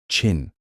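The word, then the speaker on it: Qin: His empire, though it fell soon after his death, gave its name Chin, pronounced Chin, to all of China.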